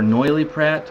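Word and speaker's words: Noilly Prat: go to the wine store and ask for noily Pratt I'm sure they'll know what you're talking about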